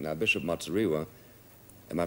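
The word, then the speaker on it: Muzorewa: Now, Bishop Matsuriwa, am I pronouncing his name right?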